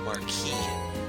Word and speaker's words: Marquis: Then when you realize that I's make an E sound, and the last letter is silent, you'll realize the word is actually supposed to be pronounced Marquis, as in Marquis de Sade, who was